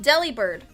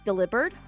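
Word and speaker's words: Delibird: How would you say its name? Deli Bird. Okay, that's what everyone says. They said Deli Bird, but someone was like, "Isn't it delivered?" Oh my god. It's a delivery bird.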